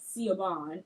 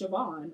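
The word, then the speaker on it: Siobhan: for the longest time I thought that name was caban until someone had pronounced it and I was like oh that's sioban okay she's cool you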